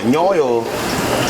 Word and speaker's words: Nyoyol: Yeah, Nyoyol is spelled very easy. N-Y-O, Nyo. Yo, Y-O. So N-Y-O, Y-O. Nyoyo.